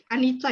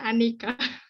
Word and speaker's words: Anicca: Di sini juga saya suka, salah satu yang aku suka itu selain Anica ya, maksudnya aku keliru bacanya Anika.